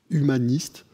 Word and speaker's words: Human-IST: Et vous, vous le prononcez comment? Humaniste.